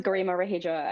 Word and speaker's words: Garima Raheja: That's PhD candidate at Columbia Climate School, Garima Raheja, and I hope I spelled that right. I said it right, did I? You're pretty close. My name is Garima Raheja.